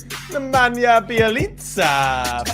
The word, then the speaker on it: Nemanja Bjelica: Nemanja Bjelica.